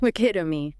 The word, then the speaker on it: epitome: Epitome. Stress on pit. Short final vowel.